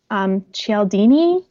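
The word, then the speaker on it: Cialdini: so good it's called pre suasion by Robert eldini that's how you say it and it's about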